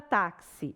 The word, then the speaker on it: táxi: Agora, olha a palavra táxi. Eu tenho 4 letras, ó, o T, o A, o X e o I. 4 letras. Só que na hora de pronunciar, eu tenho, vou colocar aqui em barras, tá? Tudo que coloca em barras é som. O tá, eu não falo xi, eu não falo som de xã, como se fosse um som só.